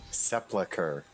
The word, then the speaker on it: Sepulcher: How do you say it? Sepulcher. With the L before the U.